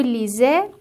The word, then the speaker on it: lisez: lisez"(ترکیب "ez" مانند "é" به نظر می رسد)، "vous lisez"، "ils lisent"، "elles lisent" ( ent is silent).